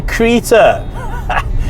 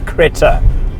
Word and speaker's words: Creta: and I am driving the very latest Hyundai Creta, which is a terrible pronunciation of it. All the guys at the office have told me, no, pronounce it properly please. It's the Hyundai Creta.